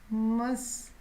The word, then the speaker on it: mustache: तो इसके ऊपर जो बाल होते हैं, मस्टाश, इसको मैं हिंदी में लिखती हूँ, मस्टाश, ऐसे करके इसकी प्रोनाउंसिएशन आएगी, मस्टाश।